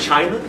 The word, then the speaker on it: Qin: properties they didn't want to be a uniting China but you have a ruler if you will